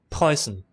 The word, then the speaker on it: Preussen: The Pruessen? The Preussen? Pruessen? I think it's Pruessen. Let's play an audio clip of somebody who can pronounce this better than me. Preussen. Perfect! There we go.